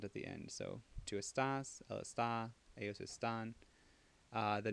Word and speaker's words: estás: Tu estás. Tu estás. So the only thing that's irregular is that the second syllable is accented.